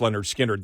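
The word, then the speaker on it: Lynyrd Skynyrd: would say okay the people that are on pronounced Leonard skinnard that cover that wrote the ones that wrote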